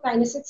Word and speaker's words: kinesics: The correct pronunciation of kinesics is kinesics, and then we have covered the oculics, and then we have covered the proxemics.